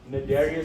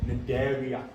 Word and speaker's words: Cnidaria: Okay, so Cnidaria, Cnidaria. The C is silent. Okay, Cnidaria.